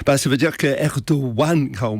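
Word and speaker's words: Erdoğan: pour l'Europe Alex bah ça veut dire que erdoan quand on prononce erdo ça c'est Erdogan mais on prononce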